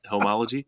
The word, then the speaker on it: Homology: Am I saying that right? Homology? You said it right.